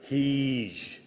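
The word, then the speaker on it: Heage: The name of the watermill written H-E-A-G-E. Great. Heege. H-E-E-J.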